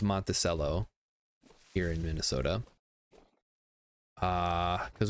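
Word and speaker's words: Monticello: up to monacell I always want to say monachello because that's how it should be pronounced but it's pronounced monell here in Minnesota uh cuz we were thinking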